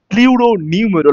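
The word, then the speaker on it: pleuropneumonia: পিপিএলও means the প্লিউরো নিউমেরো, এখানে আমরা কে পি K silent রাখবো, প্লিউরো নিউমেরো লাইক অর্গানিজম।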